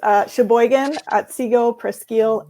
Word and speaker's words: Cheboygan-Otsego-Presque: That's what we say too, but it is Cheboygan-Otsego-Presque Educational Service District.